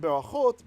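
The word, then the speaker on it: ברכות: So in berachot, blessings, the accent is on this last syllable, isn't it?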